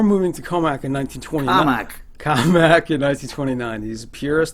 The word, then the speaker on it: Commack: COMMACK in 1929. He's a purist. That is the way it's supposed to be pronounced.